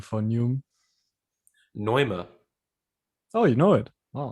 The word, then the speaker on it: Neume: Do you, side note, do you want to hear the German pronunciation for Neume? Neuma.